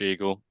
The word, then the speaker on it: Eagle: So my name's Eagle, pronounced like the bird.